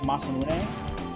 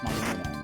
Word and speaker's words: Masamune: Essentially, I know it's actually pronounced Masamune. I know how, you know, Japanese words and names and stuff are usually pronounced based on how they're romanized. And it is meant to be pronounced Masamune.